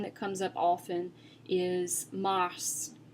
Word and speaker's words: mars: One that comes up often is mars, mars. So as you can see, it ends in an S, but I am pronouncing the S at the end.